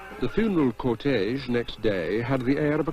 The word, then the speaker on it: Tao: in Western spelling it's t AO though it's pronounced da I've seen it translated as the order of